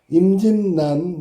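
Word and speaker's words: 임진란: 발음 반드시 외워두도록해. 의견난. 그죠? 임진난. 난이야. 난 난 요게 바뀐 거야. 요게 알았니? 어. 그다음에 생산냥 뒤에게 바뀐 거야.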